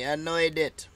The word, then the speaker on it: Amnuaydet: Amnuaydet is how they pronounce it, apparently. Amnuaydet.